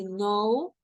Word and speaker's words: know: K and the N the K doesn't have a sound okay so we just say no and new okay we